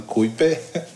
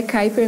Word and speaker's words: Kuiper: Kuiper que o conosco são chamado de creeper a gente ficou legal fica qual que era nem a pronúncia certa mas é Kuiper mesmo né E aí a